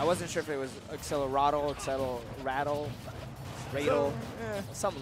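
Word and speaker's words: Accelerando: It's Accelerado? Yeah, it's not accelerated. Yeah. Accelerado. It's weird. Never played Dragon Quest, though. Yeah, I wasn't sure if it was Accelerado, Accelerado, something like that.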